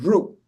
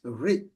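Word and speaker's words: ऋ: This is the letter is pronounced as R. And in some other regional languages, it's slightly differently pronounced, especially in Maharashtra and Gujarat. They like to pronounce it as Ru. Okay? Regionally, that's fine. Everyone has their own way of pronouncing things in the region. But when you go to pronouncing it in Sanskrit, it's Ri.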